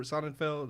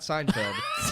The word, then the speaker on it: Sonnenfeld: his name seld or sonnenfeld seld SE Feld not Seinfeld it's like son it's like son and Feld all I know is